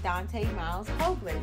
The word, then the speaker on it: Dante Miles Hoagland: Dante Miles Hoagland. Did I pronounce that right?